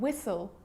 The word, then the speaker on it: whistle: light daughter bright now the letter h is often silent too often when it's following a w like in the examples what when why and whistle and sometimes it's not